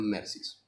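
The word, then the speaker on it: merces: se llama mercis si se escribe meses se pronuncian mercis o bien realiza una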